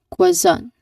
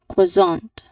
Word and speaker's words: croissant: So this is pronounced as quazon. Again listen quazon.